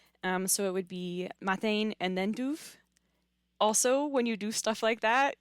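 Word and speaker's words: maidin: So instead of majene it would be mine.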